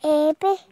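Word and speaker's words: abe: Ebbe.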